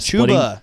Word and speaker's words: Chuba: Same situation whenever Chubba came back. He started Chuba. You mean?